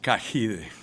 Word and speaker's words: Cagide: It's pronounced Kahed.